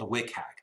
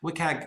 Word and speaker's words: WCAG: of rules that's referred to is something called WCAG. WCAG is the pronunciation of WCAG.